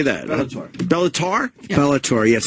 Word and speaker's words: Bellator: Bellator how do you say that bellor Bellator Bellator yes it's a lot of yeah know it's